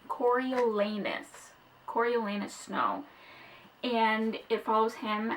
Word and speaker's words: Coriolanus: And yes, his name is pronounced Coriolanus Snow.